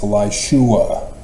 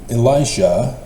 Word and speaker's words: Elisha: It's Elishua. In the Bible, it's spelled Elisha rather than Elishua, but the spelling in Hebrew is Elishua, and thus why everybody misses it, because they don't know Hebrew.